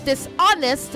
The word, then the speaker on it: dishonest: Say dishonest, not dishonest. Dishonest, not dishonest, okay? The H is silent.